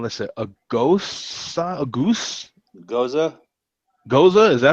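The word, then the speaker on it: gose: Goza.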